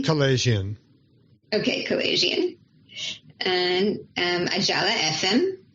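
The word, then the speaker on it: Kalayjian: Tro, I don't know how to pronounce his last name. Kalajian.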